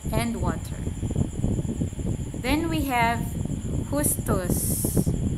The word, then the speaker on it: Justus: Then we have Justus, as they pronounce that in German.